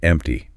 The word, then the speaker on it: empty: And if that drawer is empty, notice the P sound. It's almost silent. Empty.